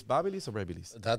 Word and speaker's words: BaByliss: how to how do you how do you pronounce that that is a good video like you go it's Babel is read this to see how many people are